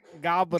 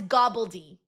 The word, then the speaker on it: Gobbledy: Oh, it's gobbledy. Gobbledy. Yeah. You gotta say it like that.